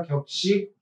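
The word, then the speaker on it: 格: 격식체 ' 격 '. 저 캐릭터 가 바로 그 캐릭터 입니다 . 그러니까 ' 각 ' 이라는 뜻 이지만 ' 격 ' 이라 고 발음 하는데 , 격식 을 뜻 하는 말 입니다 .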